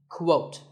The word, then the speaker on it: quote: is with a cool sound at the beginning quote similarly we have quotation and quotation marks another